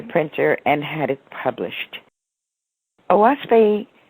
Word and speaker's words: Oahspe: Oahspe is 3 syllables. The O stands for the canopy of heaven. The Ah is the Algonquin word for earth. And Spe is the universal word for the spirit world, the emancipated heavens, nirvana.